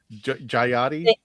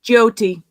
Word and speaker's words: Jyoti: If anybody wants to put the punctuation in this, Jyoti. Jayati? No, Jyoti.